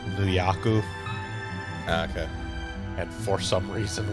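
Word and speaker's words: ニューヨーク: upstate new york because in japanese it's nuyaku okay and for some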